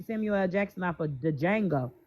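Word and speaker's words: Django: Jackson off of the Jango. First of all the D is silent.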